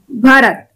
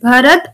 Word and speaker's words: Bharata: Lesson number 3 and our topic is भरत. Okay? आज हमारा topic क्या है students? भरत. यू can pronounce it एज भरत और भरता, दोनों करेक्ट हैं.